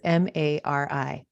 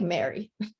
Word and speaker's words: Mari: And when she says Mari, it's Mari. Yeah. That's how you spell it. Yeah, that's Mariana in Brazilian. People would say people always say like Mary.